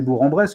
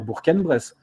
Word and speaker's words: Bourg-en-Bresse: ignares que nous sommes c'est bourg en bresse que nous disons en vérité on devrait dire burqa les graisses cette prononciation provient du franco quand ils franco provençal